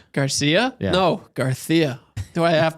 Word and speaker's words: Garcia: It was somebody said their neighbor's last name was Garcia, but they pronounced it Garia. Gar. And they insisted on it. Garia. They're Spanish. Garcia.